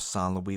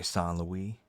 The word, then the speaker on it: Saint Louis: Louis King of France is what it is but why why why pronounced solloway why the font media well that's French obviously I personally I think